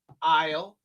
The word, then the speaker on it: isle: We had the word isle Isle. Isle. These are all the same pronunciation. Isle. Isle. Isle. They're the same exact same pronunciation.